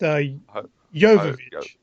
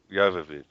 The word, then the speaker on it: Jovovich: It's Jovovich, but I think it's pronounced. How's it pronounced? Jovovich. Jovovich. Yeah, it's not like Jehovah.